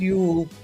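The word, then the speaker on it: Jul: It's Christmas Eve, but it's Ule and we spell it J U L.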